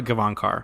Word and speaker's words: Gavankar: that outside I mean every interview that I've watched is they pronounce it Nina Kevon car well Janina is amazing